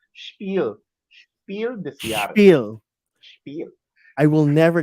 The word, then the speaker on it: Spiel des Jahres: Well, we had to learn it because we wanted to pronounce Spiel des Jahres correctly. Spiel. Spiel des Jahres.